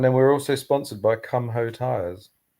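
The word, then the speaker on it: Kumho: we're also sponsored by Come Ho Tires. It's Come Ho or Come Ho. God's sake, or Kumo. Kumo. I think it's Kumo, but it's spelled Come Ho.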